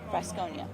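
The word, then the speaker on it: Frascogna: Fresconia.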